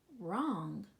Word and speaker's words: wrong: Right, wrong. Wretch, wreath. Rung, gnat, gnaw. Good job, guys. So you can note in all of these words that the first consonant is silent.